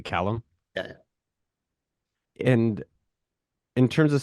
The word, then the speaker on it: Callum: audience are at, Callum, and I'm pronouncing it correctly, Callum.